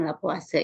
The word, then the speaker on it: Lavoisier: yang disebut juga dengan hukum lavoisier dibacanya hukum la puasa ya Yang kedua adalah